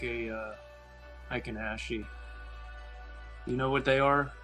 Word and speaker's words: Heikin-Ashi: I would speculate it's similar to how, I don't even know how to pronounce it. What's the Japanese bar again? Heikin-Ashi? Hakanashi, yeah. Hakanashi.